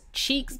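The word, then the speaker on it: Cheex: So that is spelled C-H-E-E-X. Cheeks, baby.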